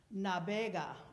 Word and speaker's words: navega: In Castilian Spanish, the V's are pronounced as a B. So, navega, volando va.